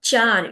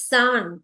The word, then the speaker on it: さん: Not Chan, it's San.